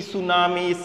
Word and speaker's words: tsunami: call it you may read it this t tsunamis noti tsunami tsunami and other words which are